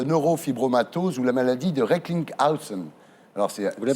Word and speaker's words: Recklinghausen: Votre patient, Jérôme Hamon, donc, que nous recevrons, est atteint de neurofibromatose ou la maladie de Recklinghausen. Alors, Vous le prononcez bien, c'est bien.